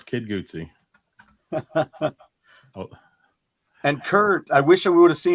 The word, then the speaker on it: Guzzi: It's pronounced Guzzi, like Guzzi, like an Italian, like a Mario.